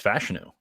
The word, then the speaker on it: Fashanu: all over the map I believe it's fashanu like and we just go with fashanu you know that's that's